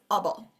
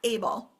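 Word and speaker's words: -able: multi- syllable suffixes so this we pronounce as abble not able although it does mean able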